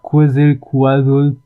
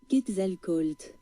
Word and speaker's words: Quetzalcoatl: Je vais faire un petit coup de Google Traduction pour savoir comment on prononce ce mot là. Quetzalcoatl. Ah oui, mais c'est en anglais. En français, Quetzalcoatl. Ah, Quetzalcoatl. Le dieu oiseau de la